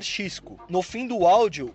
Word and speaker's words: Xisco: Soy Xisco. No hay que confundirlo. ¿Qué pasa, Alberto? ¿Cómo va? Aquí Xisco. Xisco. No ninguna de las otras 50 maneras de las que pronunciaste mi nombre.